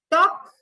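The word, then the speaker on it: talk: हैं तो H silent टॉक L silent kitchen T silent and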